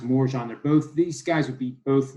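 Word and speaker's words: Morejón: With this situation, I think it is pronounced Morjan.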